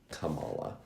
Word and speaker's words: Kamala: well Hees he has we don't know how to say her name I know it is it is Camala I I saw her husband give an interview and when he he said Kamala and I'm like okay